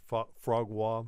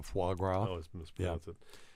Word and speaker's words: foie gras: is talking about frog always mispronounced frog yeah foie gras you know what about